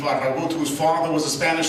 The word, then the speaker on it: Farragut: That was David Farragut. More accurately pronounced David Farragut, whose father was a Spanish soldier who fought on behalf of the Americans in the Revolutionary War.